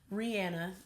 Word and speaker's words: Rihanna: Rihanna is actually the proper pronunciation, but nevertheless, she has officially launched, as of today, Fenty hair.